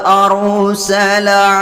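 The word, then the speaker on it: أَرْسَلَ: Perhatikan ra sukun yang diawali baris kasroh, maka dibaca dengan tebal. Wa aru, tidak boleh dibaca tipis. Wa ar, Tidak boleh begitu, harus tebal.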